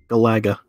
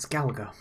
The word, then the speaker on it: Galaga: and this is joust galaga let's pronounce galaga please no it's not galago let's pronounce joe oost